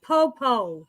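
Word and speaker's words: pupu: have to try a poo-poo platter just the experience it's just the name it's like boo-boo platter no it's pronounced popo is the weirdest thing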